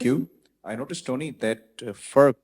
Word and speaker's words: FERC: I noticed, Tony, that FERC pronunciation is just one syllable, but if you want to call it AMIC, it would be 2 syllables.